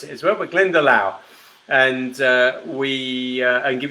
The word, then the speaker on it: Glendalough: we were looking for glendale glendale uh or glendaloff i have heard people pronounce it as well but glendalough and uh we and give yourself a point